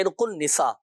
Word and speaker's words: عرق النساء: دیکھیں عرق النساء صحیح تلفظ ہے عرق النساء, تو ہمارے یہاں مشہور